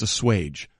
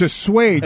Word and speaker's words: assuage: The actual pronunciation of the word is assuage, not... Baker has to assuage some of those concerns. And nor is it... Can be assuaged by a 15-yard penalty. So it's assuage.